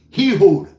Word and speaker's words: Ehud: I can't pronounce the first name, but it's spelled E H U D. Hehood. Heh Hud Barack. Heh Hud Barack. I'm not laughing. Hehud Barack.